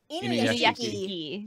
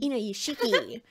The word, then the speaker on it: Inuyashiki: Inuyashiki. Inuyashiki.